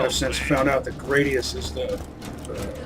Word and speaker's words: Gradius: Gradius 3, which I used to pronounce Gradius, but Farewell, I've since found out that Gradius is the correct pronunciation.